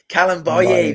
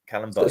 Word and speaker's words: Kalambaye: Is it Camel? I can't do it. Kalambaye. There you go, Nick. Say it 3 times and never forget, mate. Kalambaye.